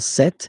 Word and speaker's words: cet: Okay, so let's see that again, se, or then set, feminin set. So you can notice that phonetically, these two are pronounced the same way.